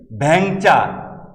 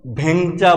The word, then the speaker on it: ভ্যাংচা: আমরা বলি ভ্যাংচা, ভ্যাংচা, আমাকে ভ্যাংচায়, এই যে ভ্যাংচা, আমরা কিন্তু কখনো ভেংচা বলি না।